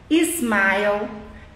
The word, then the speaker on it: smile: fala um snake Esporte smile Stone Smartphone e não é tá errado quando a gente coloca um é um I antes de palavras que começam com s nós estamos em inglês pronunciando errado Esporte a gente coloca